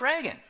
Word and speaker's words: Reagan: And do you know, is it Reagan or Regan? And the guy says, oh, it's Reagan.